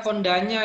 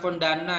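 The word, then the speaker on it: Kondañña: Ini bacanya Kondanya ya, bukan Kondana ya. Ini adalah nya harusnya ya.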